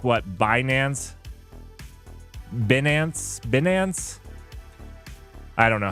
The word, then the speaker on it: Binance: them there oh is it not like Finance bance binance oh binance oh binance my finance that's